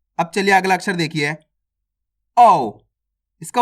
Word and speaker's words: औ: अब चलिए अगला अक्षर देखिए, औ। इसका उच्चारण कैसे करते हैं?